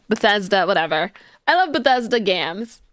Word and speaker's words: Bethesda: I love you know I call them Batista even though that's not how you pronounce it Bethesda whatever I love Bethesda